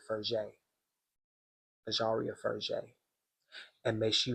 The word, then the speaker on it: Fraise: That's how I pronounce it at first. But looking at the podcast, they pronounce it Fraise.